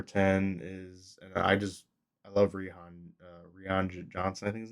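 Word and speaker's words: Rian: And I love Rihan Johnson, I think his name is, right? I I assume think it's just Ryan. I think it's just pronounced Ryan. It's just spelled differently.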